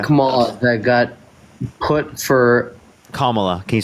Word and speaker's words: Kamala: Kamala that got put for Kamala. Can you say her name correctly? Kamala.